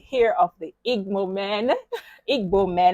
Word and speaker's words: Igbo: of the egg moment Igbo man let me pronounce it right yes over here like